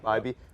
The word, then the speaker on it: Bibee: Bibee. I always pronounce his name BB in my head, but it's just not.